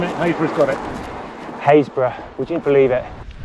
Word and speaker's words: Happisburgh: ancient footprints lighthouses revetments you name it hatred haysbruh would you believe it hayes brewer is a village in norfolk spell h a p p i s b u r g h happysburg we love those norfolk pronunciations let the adventure